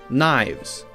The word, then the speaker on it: knives: Now we have a silent K, so we don't say kana, we say n, no. Knowledge, knave, knives, we say just n.